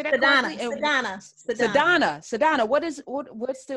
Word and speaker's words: Sadhana: say that the donna sadana what is what what's the order is an indian sanskrit name and so the correct pronunciation is sadna it's an indian name